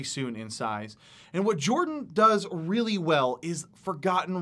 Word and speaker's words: Jorphdan: to talk about is Jorphdan. The PH is silent. This guy seriously makes me sick. Like, he really makes me sick. His content is just so ridiculously good. I have no doubt that Jorphdan is going to blow